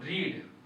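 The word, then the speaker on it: read: verb का third form रीड verb क्या है री रीड का थर्ड फॉर्म रीड रेड ही होता है स्पेलिंग वही रहता है फिर क्या लगाएंगे बाई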